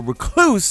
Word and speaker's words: Recluse: my beloved outbreak prime the recluse or recluse as a number of you guys pronounced it and my hammer